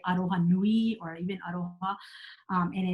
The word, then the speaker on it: aroha: They spell it with an R, but it's very similar. They call it. They say aroha nui or even aroha, and it's like that meaning of empathizing, empathy, and what else?